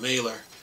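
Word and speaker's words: Mahler: now fully independent sayon mailor uh yeah the H is silent is m l e r anyway says we believe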